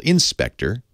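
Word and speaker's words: InSpectre: Specter meltdown issue and it's called inspector and it's spelled Insp ECT re not ER re if you google inspector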